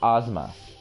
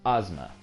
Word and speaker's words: Ozma: also mispronouncing cheating it's called it's it's actually pronounced Ozma you're right cheater it is pronounced Ozma but yeah anyway um no I mean honestly